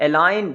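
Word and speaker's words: align: अलाइन, जी इसमें silent होगा, जैसे साइन होता है उसमें भी जी साइलेंट होगा।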